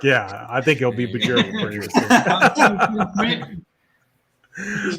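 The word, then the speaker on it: Björk: Bjork. It's like New York, but with a B and yeah. York. Bjork. All right, Locks. Bjork. Bjork, yeah. I think he'll be Bjork for you.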